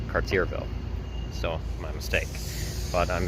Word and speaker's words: Cartierville: the last video I was wrong on the pronunciation of the second half of its name it's not Carterville it's cartierville so my mistake but I'm in this Borough